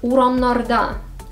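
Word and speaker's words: урамнарда: Now, let's make it even more complex, uramnarda, on the streets. Again, the stress moved to the last syllable, da.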